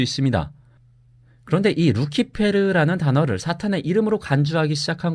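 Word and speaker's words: Lucifer: 이렇게 루시퍼가 사탄의 이름이라는 관념은이 구절의 헬레 라틴어 성경에서는 루키페르 혹은 루치페르로 번역된 데에서 비롯된 건데요. 루시퍼는이 루키페르의 영어식 발음입니다.이 단어가 원래 라틴어에서 가졌던 사전적 의미 역시 새벽의 금성입니다.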